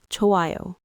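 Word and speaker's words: 좋아: The first syllable has a hf final consonant and then io follows. So by aspiration, the h adds a puff of air and then just disappears, leaving you with chio.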